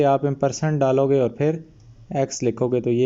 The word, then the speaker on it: ampersand: ये जो एंड का सिंबल होता है इसको एक बार यूज़ करोगे, इसको इम्पर्सेंट कहते हैं, AMPERSAND, एम्परसेंड। इसका स्पेलिंग है AMPERSAND, एम्परसेंड।